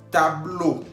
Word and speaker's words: tableau: Tableau. Tableau, que significa pizarrón. Estamos viendo al final, tableau lleva E-A-U, que se pronuncia O en español.